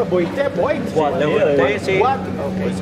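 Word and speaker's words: boîte: Bueno, ¿cómo se pronunciaba? Boite, Boite.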